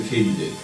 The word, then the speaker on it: katydid: They're a subfamily of the katydid, which is apparently how you pronounce it.